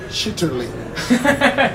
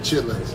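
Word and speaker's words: chitterlings: The English pronunciation is chitterling. Chitterling. Yeah, but black people call it chitlins. And actually, most people in the South, black or white, it's chitlins.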